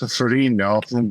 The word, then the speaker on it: Ferrigno: But I've been getting that my entire life, and essentially, everybody pronounces our name incorrectly because that's not the Italian pronunciation, but it's certainly cool and unique, but it's also like, what's that?